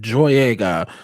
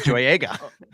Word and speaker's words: Boyega: We all know his name rhymes with Don Joyega.